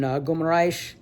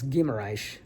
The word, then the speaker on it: Guimarães: hang out in in gum I got to work on my pronunciation I keep saying G it's gimmer I just found that out yesterday um but gimmer it's